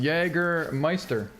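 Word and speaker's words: Jägermeister: It's pronounced Jagermeister.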